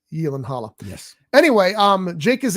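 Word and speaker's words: Gyllenhaal: been remade starring Jake Yen Halla gyllenhal we all everybody calls him gyllenhal but according to something I watched on TV with him it's actually pronounced Yen Halla yes anyway um Jake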